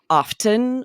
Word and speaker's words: often: And in other words like soften, hasten, and fasten, all of these were originally pronounced with the T. You could hear the T.